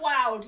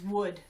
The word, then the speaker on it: would: Wonky O-U is not wowed, it's would.